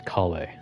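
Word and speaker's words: Collei: It's Kale. Like cauliflower.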